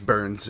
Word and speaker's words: Byrnes: Is it Byrnes? I think it's Burns. Is how it's pronounced? Burns.